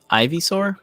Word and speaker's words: Ivysaur: Ivysaur? Ivy, like poison ivy?